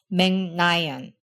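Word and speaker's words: 멕 라이언: So our first syllable goes from meg to meng. And that is how and why Meg Ryan is pronounced Meng-nayan.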